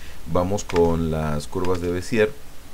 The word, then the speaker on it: Bézier: Vamos con las curvas de Bézier, o de Bézier. Sonó casi igual, pero le quise dar la sílaba tónica en la primera E.